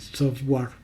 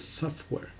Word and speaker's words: software: pronuncia de forma adecuada, así como cuando siempre dicen software y es software, o sea, como una E.